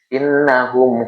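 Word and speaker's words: إنهم: Setiap nun dan mim yang bertasdid dibaca gunah. Dengung. Innahum humul humul. Innahum hum.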